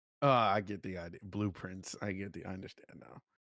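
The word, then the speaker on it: Blue Prince: Blueprints. I get the idea. Blueprints. I understand now. But it's spelled for people listening, blue and prince, like the son of a king, prince.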